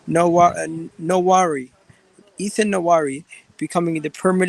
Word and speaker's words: Nwaneri: Ethan, how do you pronounce his name? Nwaneri.